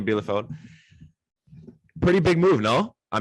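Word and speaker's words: Bielefeld: bundesliga with armenian uh how do you pronounce the second word lefeld okay armenia bilafeld pretty big move no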